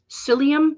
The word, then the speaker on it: psyllium: grass rib wart and psyllium but it's spelled with a p at the front like tsai um i don't